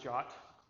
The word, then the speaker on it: JWT: or something that don't this one it's pronounced jot that's that what a